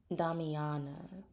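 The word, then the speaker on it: damiana: too much about Dom Mania the herb here damana that's how you say it I don't know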